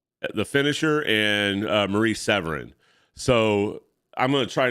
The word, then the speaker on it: Marie Severin: artists at the time Maurice Severinsen um Marie Severin I'm pronouncing her last name wrong believe it it's Marie Severin um but uh I